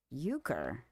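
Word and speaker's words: euchre: how to pronounce that e u c h r e is that uker uker what is yuker uker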